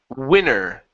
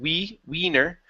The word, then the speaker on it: winner: Next one is the word winner. Okay, give me a short I here instead of wiener.